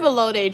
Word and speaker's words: elote: I've heard of elote Drake.